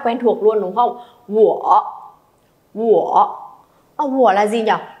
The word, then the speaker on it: 我: Đó, bản thân nó khi mà biến thành âm tiết tự thân, nó biến thành âm tiết thì U sẽ chuyển thành W và giữ nguyên cách đọc.